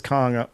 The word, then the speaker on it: Khan: I can say it right, Khan. From the epiglottis.